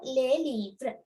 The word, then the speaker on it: les livres: Yes, S is silent because here it is a consonant, not a vowel. So les livres.